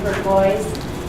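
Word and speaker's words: Bourgois: My name is Burgoyes. The easy way to remember that is that it rhymes with turquoise.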